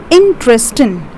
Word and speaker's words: interesting: We have three syllables over here. That is interesting. NG over here will be silent. So we have got three syllables here. We are putting the stress on the second syllable and saying it as interesting.